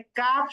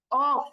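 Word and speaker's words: ق: তাহলে কাফ সহজ, কিন্তু কফ একটু জিহ্বার গোড়াটা উপরে তালুর সঙ্গে লাগাতে হবে। আমরা কথা বললে সাধারণত জিহ্বার একেবারে পিছনের অংশটা তালুর সাথে লাগে না, যখনই একটু জোর করে ওই কলকলার উচ্চারণের মতো করে লাগাতে যাব তখনই কিন্তু কফ এটার উচ্চারণ হবে।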